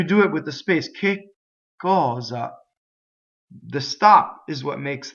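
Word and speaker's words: che cosa: the way the word k is a doubling word right it's a strong mana so we'll kick cause up that's what you would say kick cause up again double K we go up to it we stop we don't say it we only say one K and we stop in the phonation here's another thing right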